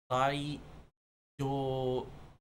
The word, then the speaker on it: daijoubu: You don't touch the teeth, you touch the part in the back to make a da. Daijoubu. Daijoubu. And then you just basically even out the syllables.